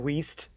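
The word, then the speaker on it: Wiest: but I don't know if it's pronounced West, not Oh, West. sorry, it's pronounced Diane Weist.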